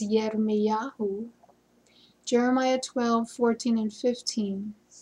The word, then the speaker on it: Jeremiah: The right way to say his name is Yirmiyahu.